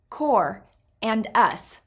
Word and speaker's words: Qorvo: of people creating something the word has two syllables core and us meaning together this is